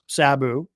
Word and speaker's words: Sabu: Is it Sabu or Sab? I keep hearing it pronounced both ways. Sabu. Sabu. Sabu. I mean I'm tempted to say potato, but I don't want to seem disrespectful. So I will honor the pronunciation that uh you have designated as being correct.